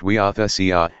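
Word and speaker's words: huiothesia: Greek word for adoption is euchesia, and is pronounced euthesia, and means the placing as a son, and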